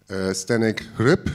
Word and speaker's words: Zdeněk Hřib: tonight's discussion I introduced on my left side stenick rip is this pronounced correct yes hello nice to meet you